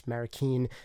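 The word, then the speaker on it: Manny Marroquin: say his name is not actually american it's marikeen so don't yell at me in the comments below for saying his name wrong manny marrakeen and also jeff ellis was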